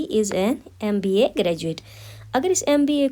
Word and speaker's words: MBA: MBA का जो M है ये एक कॉन्सोनेंट लेटर है, लेकिन प्रोनाउंसिएशन MBA का कुछ इस तरह है, MBA। दैट मीन्स M का जो इनिशियल साउंड है वो एक वॉवल साउंड है, तो इसके आगे